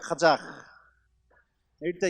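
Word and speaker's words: 카자흐: " 카자 흐어 " 라고 발음 할 때 는 목구멍 뒤쪽 에서 부터 소리 를 내 야 합니다 . 카자 흐어 - 이렇게 요 .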